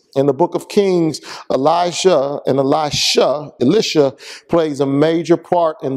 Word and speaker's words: Elisha: Case in point, Elijah and Elisha, or Elisha is a better way of pronouncing it.